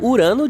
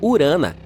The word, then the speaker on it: Urano: Bem, estamos chamando Urano de forma errada todo esse tempo. Os astrônomos dizem que deveríamos pronunciá-lo como Urana.